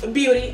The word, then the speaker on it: Beaute: Beauty is spelled B-E-A-U-T-E, honey, pronounced Beauty, okay?